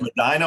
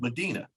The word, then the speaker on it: Medina: You introduced it as Medina, Ohio, that's everybody's pronunciation. Medina. It's Medina, Ohio.